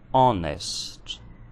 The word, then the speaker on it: honest: Já a palavra honest possui um H mudo. Então, house, honest.